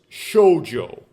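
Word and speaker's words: 少女: So this means small. This means women. Small woman. We would translate that maybe um English speakers as young women. Um and it's pronounced shojo.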